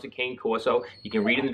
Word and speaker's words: Cane Corso: people pronounce it differently I just read it as Kane ta any Corso that's the way I pronounce it this is in a